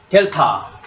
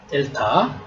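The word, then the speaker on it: δ: 발음입니다 기억 억 그다음에 델타 델타 한글의 디귿 발음입니다 디귿 그다음에 엡실론 엡실론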